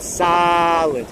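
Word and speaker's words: Sahlen's: They have the Solons. I guess you have to pronounce it like I pronounce it Salins because I pronounce my A's this way.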